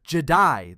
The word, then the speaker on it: Je'daii: Say Jedi slowly and you're almost there. Jedaii, that's the older word, that's who came first.